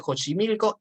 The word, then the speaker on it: Xochimilco: el pacto de xochimilco el ax generalmente se pronuncia o j que es el pacto de jónsi milico es la unión de